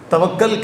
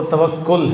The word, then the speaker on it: توکل: توکل، لیکن ہمارے ہاں غلط العام میں اسے توکل کہہ دیتے ہیں۔ تو ہم یہ سمجھتے ہیں کہ شاید توکل اس کا صحیح مفہوم ہے، لیکن صحیح مفہوم اس کا، صحیح جو ادائیگی ہے، تلفظ، وہ توکل ہے۔ بہرحال اللہ تعالیٰ عز